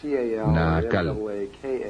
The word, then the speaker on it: Naacal: Se llamaba Naacal, N-A-A-C-A-L, o N-A-A-Cal, depende de cómo lo quieran pronunciar.